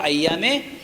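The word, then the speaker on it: أيام: রোজাকে আইয়া বলা হয় যাকে বাংলায় লেখা হয় আইয়ামে তো শব্দের উচ্চারণ হলো আইয়ামে তাইলে বোঝা গেল আদম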